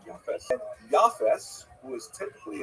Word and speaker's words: Japheth: And I should pronounce that by the way, in the Ashkenazi pronunciation, Japheth.